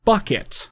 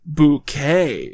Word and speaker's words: Bucket: events of the series she's apparently decided that it's actually pronounced bouquet it's very kind of